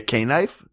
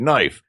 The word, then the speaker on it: knife: How many other inventors have had their things mispronounced? Like, is it actually a K knife?